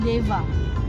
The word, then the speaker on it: Deva: Dewa Ayu tapi kalau sebenarnya Dewa yang kita sebut dengan nabi itu sebenarnya kita seharusnya membaca itu Deva Deva ver nih bahkan ejaan